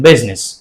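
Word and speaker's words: business: को साइलेंट किया गया जैसा कि हम कहते हैं बिजनेस right it इज the correct pronunciation बिजनेस it looks awesome right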